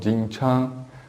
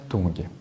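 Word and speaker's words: 董: foi o mestre Tung a pronúncia correta do nome do mestre Tung em mandarim É Tchan mas aqui no Brasil ficou conhecido como mestre Tung o mestre Tung foi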